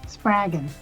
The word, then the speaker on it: Spraggon: Spraggon. Rhymes with dragon.